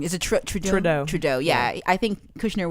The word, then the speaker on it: Trudeau: shadow he's a Trojan hey I pronounce his name wrong is it true Trudeau Trudeau yeah I think Kirchner would look more